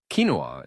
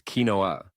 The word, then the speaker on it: quinoa: Quinoa is a popular food that often trips people up. The spelling suggests kinoa, but the correct pronunciation is quinoa.